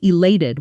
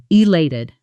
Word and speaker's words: elated: I felt elated when I found out I got the promotion. Pronunciation. Iated. Elated. Notice the a sound in the middle like the word late. Elated.